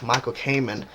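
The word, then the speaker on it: Michael Kamen: it's an orchestra version and actually the guy Michael Cayman that's how you say his name the conductor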